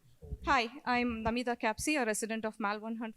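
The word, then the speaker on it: Namita Kapsi: maybe spell it? Namita Capsi.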